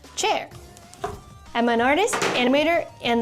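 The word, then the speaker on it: Qier: Hi, I'm Cher Wang, spelled Q I E R, pronounced chair.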